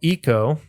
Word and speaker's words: Eco: There's also a game, it's called Eco, and this is ECO, not to be confused with ICO, which I pronounce as ICO. Yeah, anyway, and not Echo the Dolphin, not that one.